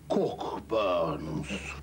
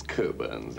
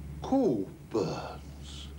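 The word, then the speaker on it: Cockburn's: Cockburns. Not quite. It's Coburns, actually. No, we don't pronounce the C-K. Coburns.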